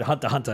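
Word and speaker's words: Hunter × Hunter: or something and they'd he literally said Hunter hunter and I'm like oh X is silent each episode would then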